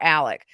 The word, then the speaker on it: Alex: it Alex Alec or Alec the very Southern way to pronounce Alex is Alec in the South it's